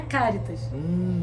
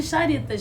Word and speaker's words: Charitas: E o bairro de Charitas, na verdade, o nome é Caritas. Que legal. Mas porque Caritas em latim se escreve com CH. Uhum. Então as pessoas chamaram de Charitas, mas Entendi. É Caritas.